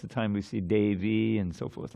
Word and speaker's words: Devi: Notice how all the I's at the end of these different designations of Radharani, Gaurangi and Vrindavaneshwari, Devi, and that's it, 3. They're all short.